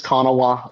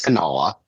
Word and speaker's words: Kanawha: and real pronunciation is Kanawha, but me being the hick that I am and where I've lived all my life, it is Kanawha.